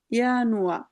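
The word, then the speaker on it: Januar: মত একেবারে ইংলিশের মত তো আমরা উচ্চারণ জার্মান জার্মানের মত করতে হবে যেমন প্রথম মাসের নাম হল দিয়া ইয়ানুয়া আপু আপু জুম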